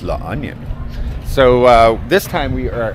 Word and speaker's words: La Union: And back in San Juan, La Union, and by the way, not La Union, that's how I would pronounce it, it's La Onion.